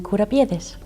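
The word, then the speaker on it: κουραμπιέδες: And today on the Bent Spoon, I will be making kourambiedes. It's like an almond shortbread. Yeah, how do you pronounce it? Kourambiedes.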